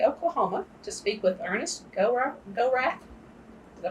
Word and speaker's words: Gorath: We're with the Oklahoma State University Library, and we're in Perry, Oklahoma, to speak with Ernest Gorath. Did I pronounce that right? Fine. Gorath.